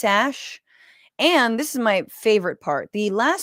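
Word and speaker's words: Æ: Joe Rogan experien that the AE is pronounced Ash X Ash and this is my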